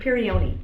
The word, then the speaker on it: Peyronie: Peyronie disease. Oh, I'm thinking Meniere's is the ear. The ear, yeah. How do you pronounce that again? Peyronie.